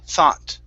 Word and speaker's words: thought: Make sure to pronounce an ah sound here and pronounce the t. So it's thought.